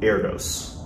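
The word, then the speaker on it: Erdős: proof which is done by a guy named Erdos I believe that's how you pronounce his name at least e-r-d-o-s where there's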